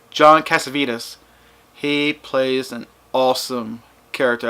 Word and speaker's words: Cassavetes: It is just Cassavetes.